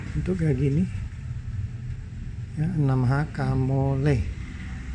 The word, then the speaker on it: Kamolee: Ya, 6H Kamole. Nggak tahu baca Li atau Le. Kebanyakan di YouTube tuh bilang Le. Ya, jadi bacanya Kamole, bukan Li.